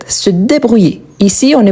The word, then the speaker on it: se débrouiller: Donc ici, la même chose, le verbe à l'infinitif débrouillé, on ne prononce pas le R, on prononce comme si je l'avais ici un accent aigu. Donc se débrouiller.